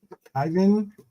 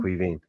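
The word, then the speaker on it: Caoimhín: player of the match, Ivan Kelleher, right? That's how you say it, pronounce it. Make sure I pronounce it right. No, Ivan Quivine. Quivine. No, Quivine. Quivine. Yeah. Quivine. As in Queen.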